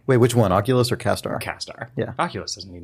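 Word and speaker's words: CastAR: The augmented Kastar reality. stands for Cast Augmented Reality, but they pronounce it weird.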